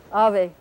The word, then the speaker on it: ave: of a this V the thing that's written with the V in Spanish it's not pronounced like an English V it's a bilabial fricative is well as opposed to ver its roof Ave so we write it